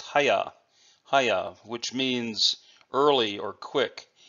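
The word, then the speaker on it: 早: This character is pronounced haya, which means early or quick.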